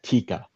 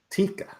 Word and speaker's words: Tika: Uh Tika. Tika. That's easy to remember, guys. With without the D pronunciation.